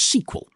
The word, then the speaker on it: SQL: And they leaned hard into a piece of standardization, a query language called SQL, which some people pronounce sequel.